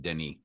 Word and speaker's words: Denis: So if you haven't watched it, the S is silent. Denis, please go watch it.